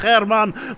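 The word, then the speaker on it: Germán: However, Joseph German is now getting very close. And don't you dare correct me again. I know he is Mexican and is pronounced Herman, but he is German.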